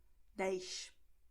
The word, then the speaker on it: dez: Okay, so this sound sh will be at words like dois, festa, esqui, 10. Okay, this is the way someone from Rio de Janeiro would pronounce these words. Okay, but this is only there because in general Brazilian Portuguese you will say dois, festa, esqui, 10.